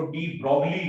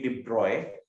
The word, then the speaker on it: de Broglie: लेकिन Louis डी ब्रॉय ने, आप इसको पता नहीं कैसे प्रोनाउंस करते हो, मेरे ख्याल से आप इसको डी ब्रॉगली कहते हो, लेकिन Louis de Broglie, the correct pronunciation is Louis de Broglie।